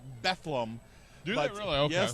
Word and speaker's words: Bethlehem: They pronounce it Bethlehem.